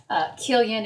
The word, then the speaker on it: Killian: So Killian is spelled like million, but with a K.